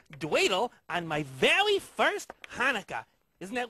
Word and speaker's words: Hanukkah: They're teaching me a really fun game that's played at Hanukkah. Actually, Telly, it's pronounced Hanukkah, you know, with more of a ha. Huh, like that? No, more in the back of the throat.